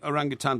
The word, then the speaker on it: orangutan: orangutan it's spelt wrong orangutan does not have a g on the end orangutan has escaped yeah